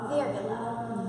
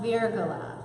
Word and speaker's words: Virgola: Virgola. Virgola.